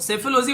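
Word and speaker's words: psephology: तो सेफोलॉजी word आप लोग याद रखना, पी साइलेंट होता है और इसका मतलब होता है कंकड़ वगैरह।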